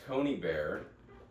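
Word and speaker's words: Conybeare: Chris Coney Bear, a retired Australian senior public servant. How do you spell that? Chris. Oh yeah. Yeah. And then C O N Y B E bear like the animal.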